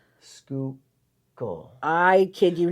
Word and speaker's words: Schuylkill: You're gonna pronounce the name and guess what pen this is. What brand pen this is. Schurikele.